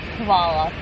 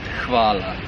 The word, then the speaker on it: Hvala: you, which I've tried to do already and butchered already. So, first of all, Peter. What is it? Hvala. Hvala.